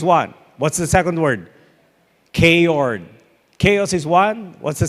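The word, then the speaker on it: chaord: A K-Ord is spelled C-H-A-O-R-D.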